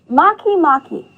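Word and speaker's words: Makemake: next one is one of my favorites to pronounce so repeat after me Maki Maki very good Maki Maki was named a dwarf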